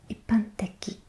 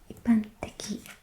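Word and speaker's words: 一般的: The fourth example is generally, and that is pronounced ippanteki, ippanteki.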